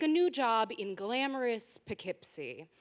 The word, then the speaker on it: Poughkeepsie: new job in glamorous poughkeepsie now for the uninitiated poughkeepsie is spelled with a silent g which leads me to believe that uh even the founders didn't want anyone to find it uh but the job